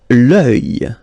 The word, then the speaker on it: l'œil: L'œil. L'œil. Strange combination of vowels here, okay, and then you will get the sound and then y. Œil. Alright, and it's masculine, by the way. Un œil, l'œil.